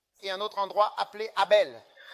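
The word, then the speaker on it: Harbel: Quel oui San Kelli et un autre endroit appelé Abel H A R B E L et une autre ville appelée Mandier l'homme aux anglais.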